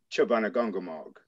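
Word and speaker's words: Chaubunagungamaug: nipmuck tribe which i can't pronounce can you pronounce that for me chobanogongomog ghana bungamug that's very close incredible word and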